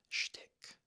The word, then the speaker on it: shtick: Next one is shtick.